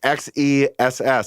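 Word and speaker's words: XeSS: engines z super sailing oh no pronounced x-e-s-s so i guess there it is officially i'm saying z wrong is at a high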